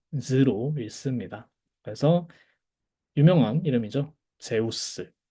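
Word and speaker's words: Ζεύς: 제우스. 이거 제위스 아닙니다. 제우스예요. 이 이중 모음이죠. 저희 배웠던 에우. 그래서 제우스 또는 세우스.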